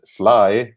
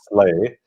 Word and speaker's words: sleigh: in normal language, but sleigh is kind of a funny word. We don't pronounce the GH, and the vowels in the middle look like we should pronounce it sly, but it's actually sleigh.